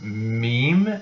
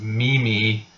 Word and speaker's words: meme: I think it was probably pronounced meme as Mimi for the better part of the year before a co-worker corrected her I think she was